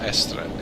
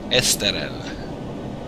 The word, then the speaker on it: Esterel: Oh no, it's not Estrelle. It's Esterel.